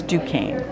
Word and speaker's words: Duquesne: a few around here call this Duquesne Duquesne so it's Duane thank you I know